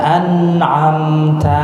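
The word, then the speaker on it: أَنْعَمْتَ: Shiratal ladzina an'amta 'alaihim. Oke, awas, hati-hati di sini nih. Ada yang bacanya mantul, nah itu mantul tuh. Harusnya an ditahan.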